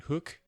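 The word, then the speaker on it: Hooq: Hook. It's spelled H-O-O-Q. So is it I would pronounce that hook, not hook.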